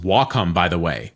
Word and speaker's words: Wacom: trust me I've tried them all it is pronounced walkom by the way not wcom or Wacom W in Japanese means Harmony and Comm computer